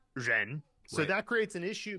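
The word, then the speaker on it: 人: wouldn't know from that that the character is pronounced Reen so that creates an issue because if you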